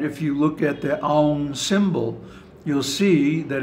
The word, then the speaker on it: Aum: And it's why we always pronounce it Aum, not Om.